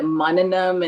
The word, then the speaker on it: Manana: So the what you said is part of meditation is actually the mananam and the nididhyasanam, to what you heard and you process and to internalize.